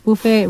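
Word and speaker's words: buffet: যাই হোক, আরেকটা ভালো বুফে রেস্টুরেন্টের কথা বন্ধুদের বলতে চাই, সেটা হচ্ছে ফরচুনা বাফে বা বুফে। দুইটা উচ্চারণই হচ্ছে ভ্যালিড, একটা ইউরোপিয়ান আর একটা হচ্ছে ইউএস বা আমরা যেটা ইউজ করি, যা অ্যাডিলেড ক্যাসিনোতে আছে।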